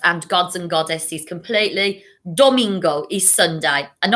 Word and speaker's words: domingo: gods and goddesses completely domingo is sunday and i remember domingo because it rhymes with flamingo okay domingo you try it domingo